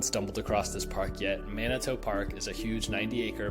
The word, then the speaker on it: Manito: Many times I hear people pronouncing this as Manito, which, with how vowels work, probably makes sense.